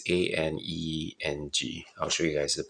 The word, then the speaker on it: Aneng: So this is the case here for, I guess it's pronounced Aneng. I'm quite sure how it's pronounced. It's Aneng.